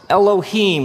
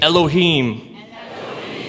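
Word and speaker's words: אֱלֹהִים: it would look something like this and it's pronounced anounced Elohim let me hear you say Elohim Elohim in the beginning Elohim created the heavens and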